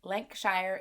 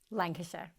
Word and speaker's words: Lancashire: mind for business after leaving her hometown in lanc shire england lancashire i knew i wasn't going to say it